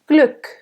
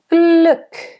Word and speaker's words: Glück: You have a little bit of u lips, but not as closed. Glück. Glück. And a nice soft g in the beginning and a nice hard k at the end.